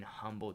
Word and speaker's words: Humble: That makes no sense. Why not just spell it Umble?